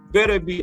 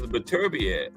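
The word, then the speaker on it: Beterbiev: going to call him Arthur better be that's what the ring announcer called it right and you know they got it right because they probably asked him or one of his people had to pronounce always thought it was berad no that's what he said better bead okay but he got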